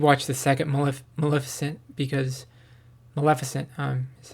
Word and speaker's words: Maleficent: And then I didn't watch the second one, but I think I should watch the second Maleficent because Maleficent is how you say it, because I think I'd like it more now that I'm older, more mature.